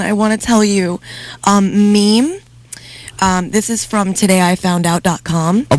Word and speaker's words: meme: Okay, so meme, incidentally, is often pronounced as Mimi or Meme, but in fact should be pronounced meme.